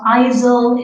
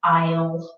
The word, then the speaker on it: aisles: this already that we have a silent letter again so it's not aisel it's Isles and Isle is very